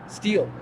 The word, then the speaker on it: Stele: uh definition I appreciate that what's your name steel steel uhhuh I'm hey steel how do you spell that St l e okay are you okay